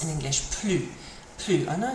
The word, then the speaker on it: plus: need to know is PL PL PL means more okay and it is like Plus in English PL PL I know I said PL here but it's a bit more of an o sound PL PL if the